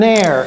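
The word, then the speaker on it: heir: C'est un air, parce que ça se prononce comme l'air qu'on respire.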